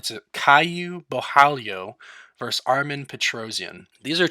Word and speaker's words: Caio Borralho: tough, but I did look into how to pronounce this one. It's a Caio Borralho versus Armen Petrosyan.